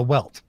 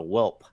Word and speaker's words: welt: And so they call it a whelp. With a P.